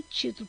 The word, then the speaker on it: título: Aqui nós vemos que é o título. Por quê? Quando a gente chama, olha só, título. Qual é a sílaba mais forte? É o ti.